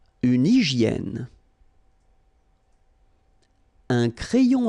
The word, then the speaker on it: hygiène: Une hygiène. So remember we've got this Y here, vowel, and it's pronounced like E, okay? Hygiène. H doesn't exist, H doesn't exist in French, so hygiène.